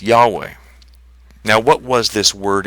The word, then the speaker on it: Yahweh: never to be uttered there's actually some uncertainty about how this name would have been pronounced but most interpreters seem to think that it was probably pronounced as Yahweh now what was this